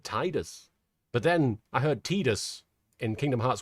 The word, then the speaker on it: Tidus: Uh pron pronunciation is Tedus. Comes from teta equals sun.